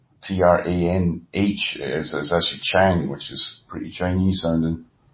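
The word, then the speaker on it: Trang: And Chang too, T-R-A-N-G. T-R is Ch sound. T-R-A-N-H is actually Chang, which is pretty Chinese sounding.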